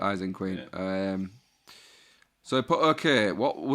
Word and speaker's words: Ising Queen: ISING Queen, Ising Queen, It's like Isengard for Isengard. Ising Queen.